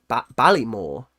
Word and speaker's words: Baltimore: So we say bal Balymore.